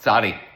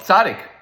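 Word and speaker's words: צדי: If most people don't even know how to pronounce the letter, the proper name of the 18th letter of the olive base is what? Sadi, but it's commonly called sadic.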